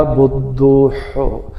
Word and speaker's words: بدوح: کو بدوح پڑھتا ہے، کوئی اس کو بدو پڑھتا ہے، نہیں، اس کا اصل تلفظ ہے بدوح۔ اس کو آپ نے ہاتھی والا ہے نہیں نکالنا، اور شد ہے اس کے اوپر، دال کے اوپر، اس کا خیال رکھیے گا، اور سب پہ پیش